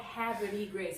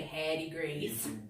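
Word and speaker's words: Havre de Grace: I'm from a little town called Haverty Grace, Haverty Gra, so to speak, but we say Hattie Grace.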